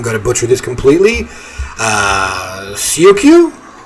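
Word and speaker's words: Tsioque: Syokyu? Oh, pronounced Chiok.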